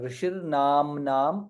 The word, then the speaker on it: ऋषिर्नाम्नां: shakara na and refa ऋषिर्नाम्नां ma is there na is there namnam both the letters we have to pronounce very clearly dirgha and followed by anuswara ऋषिर्नाम्नां सहस्रस्य वेदव्यासो महामुनिः